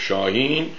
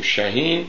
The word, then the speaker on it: شاهین: درست تلفظ کنیم و شاهین رو اینجوری نوشته که میشه گفت شاهین نه بخونیم شهین این آقا بعد گفت